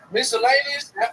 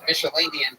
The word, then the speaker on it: miscellaneous: Miscellaneous. I'm saying that right? Now you are. Yeah. I'm saying it right. You fixed it. You said Michelinian twice.